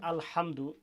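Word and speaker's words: الحمد: আছে আলহামদুলিল্লাহি রাব্বিল আলামিন এখানে প্রথম যে আলহামদু এই হা টা উচ্চারণ করতে গিয়ে আমার এখানে আপনারা লক্ষ্য করেন এই যে আল হা এই যে গলাটা চাপ হবে আলহামদু ব্যাস টোটাল একটা আয়াতের মধ্যে শুধু একটা জায়গায় কঠিন সেটা হচ্ছে হা উচ্চারণটা আজকে আমরা শিখলাম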